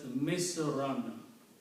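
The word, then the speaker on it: مِصْرًا: comes after the word, these two dhamma change into two fathas. When you combine the two words, so in the sentence it will be pronounced as Misran.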